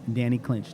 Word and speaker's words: Danny Clinch: I am here with the Art of Hip Hop, and I'm talking to the legendary photographer, Danny Clinch. Did I pronounce it right?